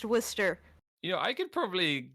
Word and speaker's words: Worcester: the way it's pronounced why is it spelled war sester and then pronounced Wier you know I could